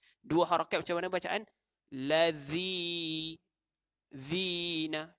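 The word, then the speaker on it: الَّذِينَ: Lazi zina. Tak boleh baca lazina.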